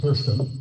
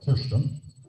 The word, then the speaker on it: Kirsten: Well, I'm interested in this leadership business, and you know, Sammy and Kirsten, that's how you pronounce it in Norway, Kirsten.